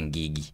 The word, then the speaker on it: Ngigi: Of course tutasema Ngigi lakini huu andikwa huu andikwa Ngigi but unapronounce Ngigi.